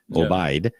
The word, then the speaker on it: Obaid: Now, I spoke to your producer, Obaid. Correct pronunciation. Yeah, that's correct.